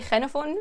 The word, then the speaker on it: Xenophon: We say Xenophon in Greek. The proper is the proper pronunciation.